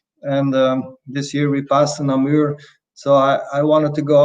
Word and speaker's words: Namur: try and bring back Namor for the MXGP? The what? The Breton? For the Namor, Namor, Ah, Namur. Namir, yeah, how you pronounce it, Namir, yeah.